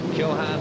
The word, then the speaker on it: Shanahan: It's Shanhan, of course, is how you pronounce his name correctly.